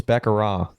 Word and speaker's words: baccarat: It's Baccarat. You don't say Baccarat. that. You don't pronounce the T at the end.